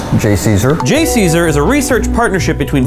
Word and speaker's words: JCESR: Which can be pronounced JCESR. JCESR is a research partnership between various academic and